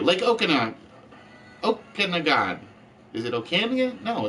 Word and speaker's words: Okanagan: Is it Okanagan? No, it's Okanagon.